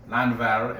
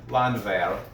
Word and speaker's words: Landwehr: I think the value is in Landwehr, if you say it in German, Landwehr. That's what Mommy says. Yeah, because there's no W's or something. All W's are pronounced with V. Landwehr.